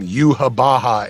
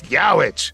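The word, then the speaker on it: Yhwach: It was very, very interesting how people were telling me I was pronouncing the name Yuhabaha incorrectly because it's spelled in the manga like Yiwach, and they would write it's Yowich, and it's like, and I would just write back, thank you, but that's not what the reference tape from Japan is telling me to say.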